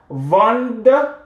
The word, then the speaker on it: vendent: ENT at the end of a verb is not pronounced. In whatever situation, whatever the verb is, ENT will be silent. Okay, so il, elle, vendent, vous vendez, nous vendons,